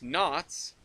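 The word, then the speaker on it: Knott's: which is wrong uh it is not Berry Farm it's not Nots Berry Farm it is knots knots being the the name Berry Farm the thing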